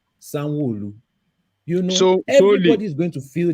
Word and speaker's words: Sanwo-Olu: But it's Sanwo-Olu.